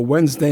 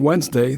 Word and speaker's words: Wednesday: i 94 for a Wednesday night game and remember when spelling Wednesday the D is silent just like the reaction